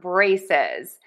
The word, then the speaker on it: braces: So, two syllables stress syllable number one. Braces. Braces. Braces. Braces. Braces. Stress syllable one. Bray. And don't forget the Z in syllable number two, braces.